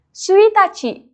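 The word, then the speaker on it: ついたち: Nah, cara pengucapannya seperti ini ya, minasang. Tanggal 1 dibaca dengan suitachi.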